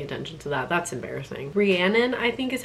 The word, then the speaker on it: Rhiannon: Rhiannon, I think is how you say her name.